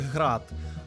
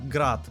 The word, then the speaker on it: Град: роботи українського виробництва то правильно вимовляти їх град але більшість у світі вимовляє їх на російській манері як град тобто навіть такі нюанси